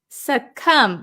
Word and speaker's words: succumb: uh let's see suum suum remember the silent be we don't pronounce it suum succumb is a verb